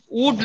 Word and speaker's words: would: এটার উচ্চারণটা হবে উড নট, WOULD, উড। এটার উচ্চারণ কিন্তু উল্ড না, উড।